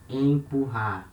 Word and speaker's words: empurrar: For example, we have this verb here, empurrar. It means to push. Empurrar. So here we have letter E before letter M. They are the same syllable, so we say en, empurrar, empurrar.